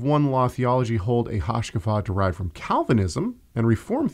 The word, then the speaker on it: hashkafa: not solos scriptor Caleb it's not worldview it's hashkafa a Hasa okay I'm sorry hashkafa yes but how does he spell that uh h a s h k a f a hashkafa um but yeah he's taking that that's